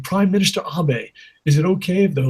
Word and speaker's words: Abe: In America, we pronounce it Abe, but it's pronounced Abe.